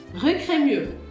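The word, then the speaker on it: Crémieux: Esse X do final. Esquece. Cremur.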